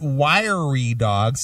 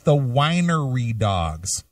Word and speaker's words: The Winery Dogs: you can't pronounce Rubicon it's it's Rubicon it's not Reuben cross and it's not wiy dogs it's The Winery Dogs maybe if you listen